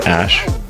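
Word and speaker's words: Æ: So, I mean, it's just X, the letter X, and then the AE is like pronounced Ash.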